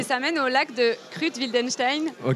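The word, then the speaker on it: Kruth-Wildenstein: Et ça mène au lac de Krut-Wildenstein. Ouais. Je le prononce bien. Ouais, c'est ça.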